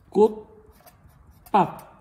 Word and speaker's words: 꽃밭: 꽃이 많은 밭, 이건데 그냥 꽃밭인데 신기하게 발음은 어떻게 돼요? 이거 시험 문제 음운변동 복습한다고 생각해봐도 좋을 것 같아요. 꽃밭 되죠? 꽃밭. 그럼 여러분들 여기서 음운변동 한번 복습해 봅시다. 어차피 공부하는 거니까. 여러분 치읓이 디귿이 되는 현상은 뭐라 그러죠? 받침과 관련됐죠? 이거 뭘까요? 음절의 끝소리 규칙이죠. 그쵸? 그리고 비읍이 쌍비읍이 됐네요. 비읍이 두 개가 생겼으니까 추가, 첨가할까요? 아니라 그랬죠. 비읍이 쌍비읍이 되는 것은 교체이며 된소리되기라고 했어요.